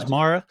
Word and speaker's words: Bonsmara: Bonsmara, have Yeah.